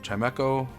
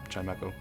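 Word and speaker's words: Chimecho: Uh, Chimeo or Kime, I think it's Chimeco. I've always pronounced it that way.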